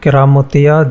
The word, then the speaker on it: কেরামতিয়া: অনুসারে প্রতিষ্ঠিত এ মসজিদের নাম রাখা হয় কারামতিয়া মসজিদ তবে স্থানীয় উচ্চারণে কেরামতিয়া মসজিদ নামেই প্রসিদ্ধ এ মসজিদ প্রিয় দর্শক